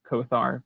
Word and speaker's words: Kothar: Kind of like it's like one of those things where like his name is like in Draconic it's pronounced Kothar, but it means demon.